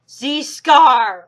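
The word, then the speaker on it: Zi Skar: And now for the most biggest villain, Z Scar, or known as Ghost Freak. It's pronounced Z Scare.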